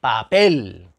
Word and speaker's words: papel: que no llevan tilde papel papel cuál es la sílaba tónica la última papel porque porque no decimos